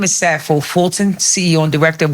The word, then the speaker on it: Sappho: Hi, my name is Safo Fulton, CEO and Director of Women Beyond Borders, women spelled with an X.